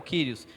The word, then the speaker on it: Kyrios: K mesmo, é o Kyrios. Mas ó, o U que parece um U ali é o som do Y. Então dá a ideia do I. Então é Ki.